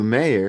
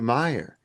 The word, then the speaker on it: Meyer: IO and you say Matthew Mayor and it's Matthew Meyer.